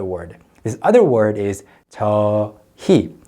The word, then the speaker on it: 저희: So you write it as 저 and 희, but you only pronounce it as 저희. You don't say 저희. It's too effortful. So 저희. So many people also pronounce the word with the 히읗 part weakened, 저희.